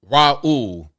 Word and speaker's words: Raul: But the phonetic spelling would be RAH-OOL. Raul.